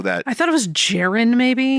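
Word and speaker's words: Jeryn: I thought it was Jaren, maybe. It's spelled like Jaren, but they call him Jerry.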